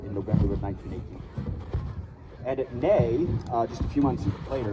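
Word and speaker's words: Néry: And at Ney, just a few months later, or sometimes pronounced Neri, if you spell it phonetically the way the English would, Ney in French.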